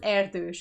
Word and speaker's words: Erdős: how you pronounce it, it's pronounced Erdős in Hungarian. Because of the two slashes on the O. It is an Ö sound.